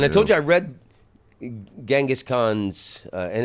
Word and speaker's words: Genghis: And I told you I read Genghis Khan's, and it's Chenghis. Genghis Khan? Chenghis is how they pronounce it.